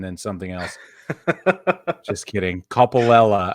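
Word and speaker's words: Coppolella: something else just kidding Coppola I believe is how you pronounce it he has been reinstated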